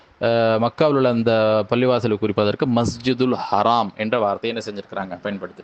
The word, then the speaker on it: மஸ்ஜிதுல் ஹராம்: மக்கள் வந்துட்டு அதிகமாக வந்து மஸ்ஜிதுல் ஹராம் என்று தான் சொல்றாங்க ஆனால் சில சமயம் மருவி மஸ்ஜிதுல் ஹரம் என்று சொல்லக்கூடியதை நம்ம வந்துட்டு பார்க்கிறோம் ஆனால் சரியான ஒரு உச்சரிப்பு மஸ்ஜித் அப்படின்னு வரும்பொழுது மஸ்ஜிதுல் ஹராம் என்று சொல்வதுதான் சரியாக இருக்கிறது அதேபோல கூடுதலாக வந்து என்ன